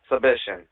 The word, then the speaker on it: Subishin: Subishin. I'm going to write that down because a lot of people have trouble speaking that last name, and rightfully so, but it is pronounced Subishin.